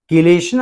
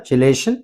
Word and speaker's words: chelation: Next moving to chelation or chelation, anyway you can pronounce.